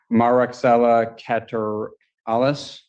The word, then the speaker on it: Moraxella catarrhalis: One of those, pronunciation, Moraxella catarrhalis.